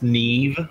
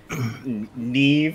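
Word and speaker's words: Niamh: is knee is pronounced neve by the way name h on the stream yet either hold on yeah it's it's gaelic phonetics just think n-e-e-v neve spelled n-i-a-m-h love it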